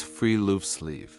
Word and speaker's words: friluftsliv: Norway has a cultural concept called friluftsliv, pronounced roughly as friluftsliv, which translates as open-air life and is considered a fundamental Norwegian value rather than a hobby or a lifestyle choice.